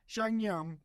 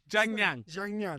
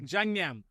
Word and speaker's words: Jiangyan: Go on. Xiangyang. It is Jiangyan. Jiangyan. Okay, Jiangyan Food Co.